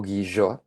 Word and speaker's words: Guillot: eh como por ejemplo Ana Guillot o Guillot, como le como le dicen allá, como pronuncian allá el nombre.